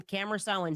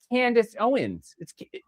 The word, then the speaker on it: Candace Owens: It's always got to be Tucker Carlson, Cameron Owens. It's Candace Owens.